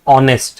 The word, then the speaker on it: honest: But see when you pronounce this word it says honest right? The word that is coming out is O.